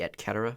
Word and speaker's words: et cetera: In Latin, it'd be et cetera, because they don't pronounce C's like soft or like S sound.